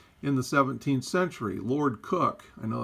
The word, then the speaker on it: Coke: the 17th century Lord cook I know that looks like Coke but it's pronounced cook differentiated between natural persons